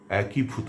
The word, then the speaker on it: একীভূত: আর শব্দটি হচ্ছে একীভূত। এই শব্দটির উচ্চারণ অনেকে একভূত করেন যা সম্পূর্ণ ভুল।